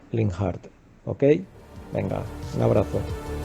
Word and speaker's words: Linhart: digo que me llamo linhart con lo cual En mi opinión la pronunciación más correcta aunque sea otra sería linhard Ok venga un abrazo